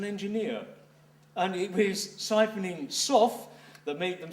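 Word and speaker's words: sough: And in case you're unfamiliar with the word, a soff, which is usually spelled S-O-U-G-H, but pronounced S-O-F-F, a soff, is a tunnel which is cut to carry wastewater out of a mine.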